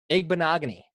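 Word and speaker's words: Igbinoghene: for some well that's okay because we can pronounce it here his name is Noah egg bonaga knee I got it I got it Magne Noah egg bonaga knee so between all of them they will have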